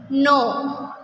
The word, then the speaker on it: know: Know, K-N-O-W, know. Here K is silent letter.